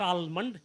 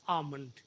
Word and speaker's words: almond: It's not almond, it's almond. Okay? L is silent in this word.